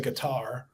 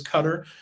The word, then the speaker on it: Qatar: Yeah, I think most people probably say Qatar, but the I guess the proper pronunciation is Qatar.